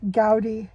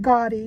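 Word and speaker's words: Gaudí: see in Barcelona that that architect gouty I think that's how you pronounce his name gouty I know it isn't gy even though people think it's gy I think it's gouty anyhow um some of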